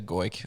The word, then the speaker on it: Goik: Is that the right pronunciation? Yeah, Goik.